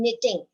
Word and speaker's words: knitting: Now, if I ask you that what is silent in these words, now can you tell me what is silent in knitting? K-N-I-T-T-I-N-G. K is silent.